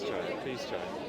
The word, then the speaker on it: Jai: Please Jai. But Jai. Jai. If you Okay. insist, you can say No, I'm not going to. I can remember Jai because it rhymes with chai.